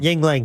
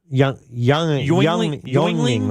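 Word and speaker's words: Yuengling: In Illinois, they pronounce this beer brand wrong all the time. Yingling. Yeah, that's the one. Oh, okay. What do you think they say? I was going to say though? it was going to be Leinenkugel. Well, how do you say it incorrectly though? Youngling or something like that because it has that U in it.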